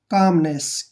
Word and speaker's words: calmness: में करते हैं और एल यहाँ पर साइलेंट रहेगा, ठीक है ना? जब भी एम से पहले एल होता है तो वहाँ पर एल साइलेंट हो जाता है।